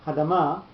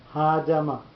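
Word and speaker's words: האדמה: So, because you've got a second mark that tells you a syllable gets a pronunciation, then it's not Hadama, but Ha'adama. The Ha gets pronunciation and the Ma gets pronunciation.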